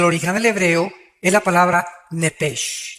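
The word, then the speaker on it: נֶפֶשׁ: Digo, por favor, esta palabra alma en el original hebreo es la palabra nepes. Apúntala como suena nepesh con sh se pronuncia nepej.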